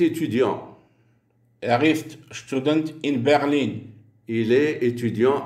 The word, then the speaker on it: Berlin: du jeu tout dance berline est accentuée sur la deuxième syllabe le i devant une seule console et rend berline prononcer le nom de cette ville comme le français berline